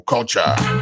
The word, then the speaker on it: Kulcha: called radio culture culture is spelled KU l c h so once you get